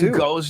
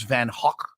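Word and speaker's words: Van Gogh: it wrong my life van Go's name is Van Hawk I feel like or he's Dutch right but no one can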